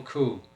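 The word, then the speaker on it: Coué: back in the 1800s uh French psychologist Emile Coupe actually is how you pronounce it he made this statement up and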